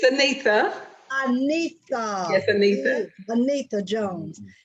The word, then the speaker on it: Annetha: And her name is Annetta Jones. Am I pronouncing that right, Annetta? It's ANNETHA.